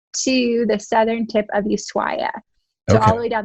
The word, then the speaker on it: Ushuaia: But we flew from there down to, it's Ushuaia. I thought it was Ushuaia.